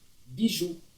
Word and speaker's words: bijou: B, I com J mais esse U acentuado vai ficar Bijou.